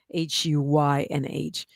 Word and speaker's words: Huynh: Hunn. I hope I'm saying it right. It's Huynh.